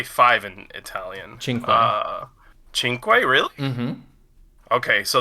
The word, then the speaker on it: cinque: Cinque.